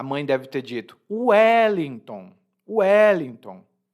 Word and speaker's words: Wellington: Então, para um brasileiro, Wellington se escreve exatamente como se fala. U-E-L-I-N-T-O-M, ou N, Wellington.